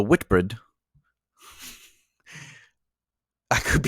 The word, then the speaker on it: Whitbread: that's pretty happens the ambitious work won numerous Awards including the white bread uh I'm sorry I'm saying that incorrectly the Whitbread I could be saying